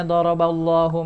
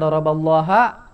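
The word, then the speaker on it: ضَرَبَ اللهُ: Kenapa di sini dibacanya doroballahu masalan? Kenapa enggak doroballaha? Kenapa enggak doroballahi? Ya. Nah, cara membuktikan ini benar apa enggak? Caranya dengan di-i'rab seperti ini. Di-i'rab dijelaskan. Maka doroballahu, ini bacanya hu, ha atau hi yang benar? Hu kan, itu udah pasti benar hu ya.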